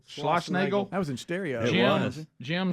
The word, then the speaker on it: Schlossnagle: Schlossnagle. Schlossnagle.